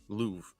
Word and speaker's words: Louvre: Louvre. The Louvre. It's just it. Come on. I was robbed. If you went to Paris and you say, where's the Louvre?